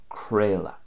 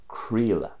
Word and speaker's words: Craoladh: be pronounced in Munster, "Crale a" so there's an a sound at the end and kind of an a sound in the middle as well, "Crale a", but if